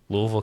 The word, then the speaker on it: Louisville: you know like Louisville and yes it is pronounced Louisville Louisville Kentucky to like California was like four hours